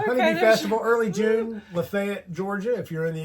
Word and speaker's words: LaFayette: Lefayet, Georgia, if you're in the area. Not Lafayette because we're in Georgia and we they say it wrong. It's Yeah, they say Lay.